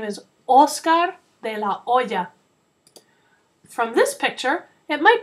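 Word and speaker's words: Oscar De La Hoya: De o remember that we don't pronounce the letter H in Spanish so his name is Oscar De La Oya from this picture it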